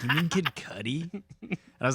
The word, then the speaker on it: Kid Cudi: Or making fun of your friend because he pronounces Kid Cudi Kid Cootie because he's never heard it pronounced yet.